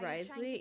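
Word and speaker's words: Wriothesley: I still find crazy Risley is pronounce pronunciation is Risley yeah it's such a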